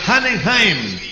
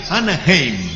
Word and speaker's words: Anaheim: Y dice Tiburón, dice don Luis Fernando Morales, saludes desde Hanenheim, California. Sí, señor. Gracias. Muy bien, don. Muy bien, señor Morales. Un abrazo desde... ¿Qué tal por allá la ¿Cómo se pronuncia? Anaheim. Anaheim.